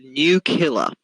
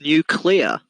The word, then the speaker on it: nuclear: i was like this it's nuclear because it is that's how it's pronounced yeah it's an objective fact and she was like what i was like miss it's nuclear not new killer and she uh basically